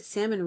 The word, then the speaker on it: salmon: I was, like, 30 something years old when I found out the l is silent, so.